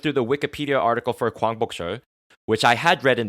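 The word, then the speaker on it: 광복절: Gwangbokjeol, my Korean pronunciation, Gwangbokjeol, literally the day the light returned, and is one of the public holidays in South Korea.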